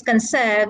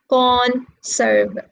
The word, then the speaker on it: conserve: words conserve and conservation where is the stress in concern if they say conserve conserve is it in the first syllable or is it in the second syllable concern it is in the second syllable because concert is a verb the stress is in the second syllable concern we don't say con serve no we say conserve okay now when we